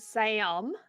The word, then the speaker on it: Sam: Certain American accents, for some reason, add an extra syllable into my monosyllabic short name, and it has intrigued me, and so I'm currently processing that. Sam.